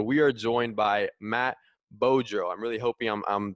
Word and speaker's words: Beaudreau: On today's episode, we are joined by Matt Beaudreau. I'm really hoping I'm pronouncing that correctly.